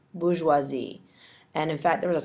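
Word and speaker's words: bourgeoisie: known as the bisi and that is spelled b o u r GE e o s i e Bazi and in fact there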